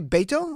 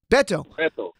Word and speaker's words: Beto: you pronounce it's not we keep saying bed or work but it's really baito or how do you say in Texas Beto Beto he's Ted Cruz